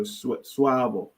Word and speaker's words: Suavo: It's always the same A, swa. Okay. The A is never pronounced the other way. So it's a little easier for the Spanish people, suavo.